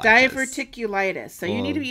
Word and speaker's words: diverticulitis: Diverticulitis. Diverticulitis.